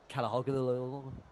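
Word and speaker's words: Çalhanoğlu: Like Calhanoglu.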